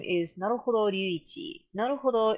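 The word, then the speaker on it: 成歩堂: Naruhodo is a play, with a long O at the end, is a play on Naruhodo, a phrase that means kind of I see, I got it.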